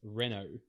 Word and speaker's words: Renault: Reno Renault how do you say it it's pronounced Renault right Renault Renault yeah it's Renault I just didn't anate you just don't watch